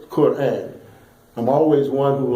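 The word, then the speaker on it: Qur'an: the blueprint for life and notice I said Quran I'm always one who like to uh help Muslims pronounce the Arabic words correctly and knowing the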